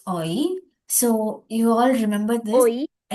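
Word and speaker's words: 오이: Can anyone pronounce this? Oi oi.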